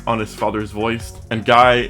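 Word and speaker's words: GAI: Guy is an AI system based on his father's voice, and Guy is spelled G-A-I and it stands for Genomic Artificial Intelligence.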